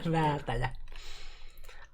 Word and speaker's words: Väätäjä: Okay, so that's how do you pronounce Väätäjä? Well, that way. Väätäjä. Is like the A with dots is like A in cat, or yeah, well, cat, yeah. Yeah, just to make your mouth open larger.